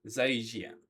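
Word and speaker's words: 再见: 再见，再见， Zaijian. Zaijian. Non, 再见， zaijian. Voilà, en fait, c'est juste que je prononce le J alors que c'est un ch.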